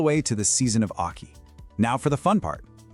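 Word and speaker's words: 秋: And our final building block for today is aki, pronounced aki.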